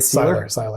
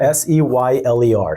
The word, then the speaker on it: Seyler: Seyler. Seyler, S-E-Y-L-E-R, Seyler.